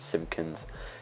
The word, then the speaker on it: Simpkins: That's how you say his name. It's a weird, strange last name, like Simpsons, but Simpkins.